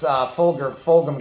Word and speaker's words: Fulgham: Yeah, Travis Fulgham, absolutely.